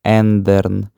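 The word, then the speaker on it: ändern: Воно читається як ндерн, тобто алаут вимовляється як звичайна буква е.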